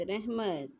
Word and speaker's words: رحمت: پہلے پڑھیں۔ رحمت، رحمت، رے ہے رہ میم تے مت، رحمت۔ عجب، ہمت، عزت، علم،